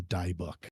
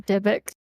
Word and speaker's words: Dybbuk: not only kill him, but to kill the die book inside of him. Let me go ahead and bring that out. Also, please take this from the Jew. It is pronounced Dybbuk.